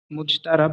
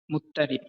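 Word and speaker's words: مضطرب: প্রচলিত উচ্চারণ অনুসারে মুজতারাব লেখা হয়েছে। অন্যথায় নিয়ম অনুযায়ী এর সঠিক উচ্চারণ হবে মুত্তারি।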